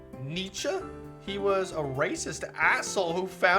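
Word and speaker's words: Nietzsche: Holy It's pronounced Nietze.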